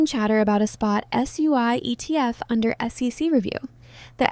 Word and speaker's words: SUI: On paper, SUI pronounced SUI is a layer 1 blockchain platform launched in May 2023 by a company called Miston Labs.